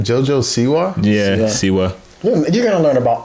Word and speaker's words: Siwa: Siwa.